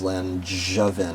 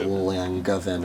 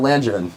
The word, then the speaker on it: Langevin: the way it is Lanjin, not Langavven or Langavven. Yeah, it's a soft G like orange.